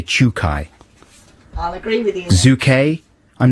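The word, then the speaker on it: Czukay: pronounce this guy's name holger c zed uk a why i would say chukai i'll agree with you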